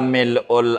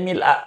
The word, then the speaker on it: mil'u: Barangkali ibunya bacanya mil'a. Mil apa mil'u biasanya? Oh mil'u, baik nggak apa-apa. Iya mil'us. Iya mil'u begitu. Boleh mil'u, boleh mil'a. Artinya kalau ada yang ngajarin mil'a jangan disalahin. Jangan disalahin.